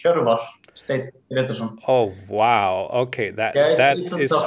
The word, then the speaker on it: Hjörvar Steinn Grétarsson: Just to be clear, is it Hjörvar Grétarsson? Do I say it correctly? Or? Yeah, it's actually quite a good pronunciation. It's Hjörvar Steinn Grétarsson.